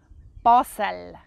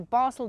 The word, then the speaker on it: Basel: Okay, so I pronounce it Basel, Basel, but people with the Basel dialect, they would pronounce it more likely like Basel, Basel. So if you want to sound really cool and really professional, you would say Basel.